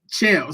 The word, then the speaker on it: Chael: Believe that the Oh, PFL Chael Sonnen. Shell. See, I always say Chanel.